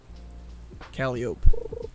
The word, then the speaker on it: Calliope: Calliope. Sounds like cantaloupe.